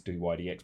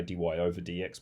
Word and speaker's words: dy/dx: as a fraction and we pronounce that dy DX you could say dy over DX but you don't need to quite often it's just do i DX and so in this